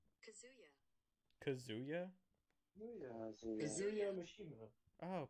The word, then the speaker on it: Kazuya: Tell me, lady, how do you pronounce his name? Kazuya.